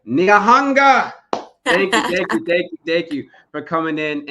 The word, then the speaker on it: Nyahanga: I'm gonna say it right, Nyahanga.